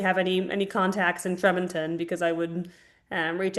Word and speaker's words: Tremonton: had if you guys had any contacts in Tremonton um because local media reported that some people in in Tremon were able to feel the explosion. We we pronounce it Tremont.